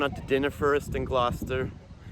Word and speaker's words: Gloucester: think we're going out to dinner first in Gloucester gler Mass um I'll put on the screen how it's spelled but it's pronounced GLA um so yeah